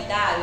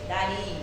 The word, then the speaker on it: Dario: então Eh o rei tem gente que fala Dário não é Dário é o rei Dario então se eu não